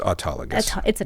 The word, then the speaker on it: autologous: body but you can call it autologus that works too and it's autologus that's how we typically say it autus but sometimes we